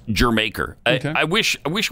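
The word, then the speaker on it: D'yer Mak'er: went to Jamaica and they called it germ acre because it's like it's saying Jamaica uh-huh with an accent okay yeah that's cool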